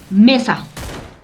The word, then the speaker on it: mesa: Por ejemplo, mesa. Mesa será palabra aguda. No, Lice. ¿Dónde está mi tono de voz? Mesa. En La penúltima. La E. En la sílaba me, en la E, me.